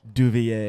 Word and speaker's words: Devilliers: Devilliers. Gets me every time. Yeah, that got me because I was saying Duvier, but then I read it and it says it's like Devil's Ears.